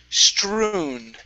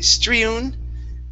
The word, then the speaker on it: strewn: And the last one here is strewn instead of strewn. Okay, go right to an U sound here.